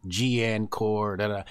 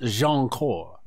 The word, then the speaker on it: Jianchor: to see the name and they're going to mispronounce it gn n chord and only a certain people are gonna know it's pronounced jean cor so you're gonna you're gonna have the people